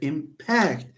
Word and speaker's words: impact: The conclusion is that whenever you have a two-syllable verb, stress on the second. That's the rule. Impact, for example, the word impact. For example, you can say, reading books will impact your vocabulary size. Will impact. See, say impact.